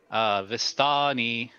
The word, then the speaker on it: Vistani: vistani friend the sun vastani is that how you say it yes that is it it's it doesn't really